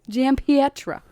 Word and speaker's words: Giampietro: Giampietro.